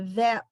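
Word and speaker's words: ב: With the dot, it's a b, and without the dot, it's a v. And this one with a dot, it's a p, and without the dot, it's a f.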